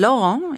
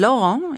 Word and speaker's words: Laurent: My grandson Laurent is only 9.